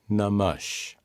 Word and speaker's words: नमः: The most widely used mantra for Shiva is Om Namah Shivaya. Salutations to Shiva. Note that the word Namaha is pronounced Namash.